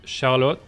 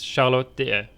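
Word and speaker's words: Charlotte: France as the country the correct way to say her name is charot it is not like di or D or whatever it's shot just for the Geeks among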